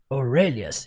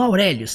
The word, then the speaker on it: Aurelius: Aurelias, não, Aurélios, tá? Aurelias. Aurelias.